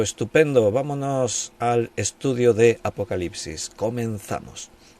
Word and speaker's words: Apocalipsis: utilizamos ya una adaptación al lenguaje Castellano para pronunciar y decimos Apocalipsis pero la palabra Sencillamente significa una revelación quitando